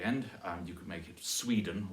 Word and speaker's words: Sweden: You could make it Sweden or Norway, stressed on the first syllable there.